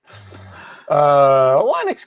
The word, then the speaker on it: Linux: No, there's that famous sound clip of Linus Torvalds, whatever, saying his name that he pronounces it Linux.